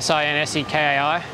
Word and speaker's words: Shinsekai: enough rambling this is shinsekai it's about SI n SE ki but there's a silent H in there people say shinozuka so